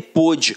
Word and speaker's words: pôde: sem o acento aqui um dia ele pude hoje não pode mais reparem que a pronúncia é diferente né cara então não